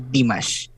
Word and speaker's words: Dimash: I know kung ano talagang ni Dimash. Wait. Dimash. Maybe you can search him. Dimash. Spell as it's pronounced.